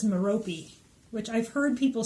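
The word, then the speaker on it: Merope: Mehrope. Meh-Roh-Pee? Let me see. It says it's Meh-Roh-Pee, which I've heard people say that, but I was like, what?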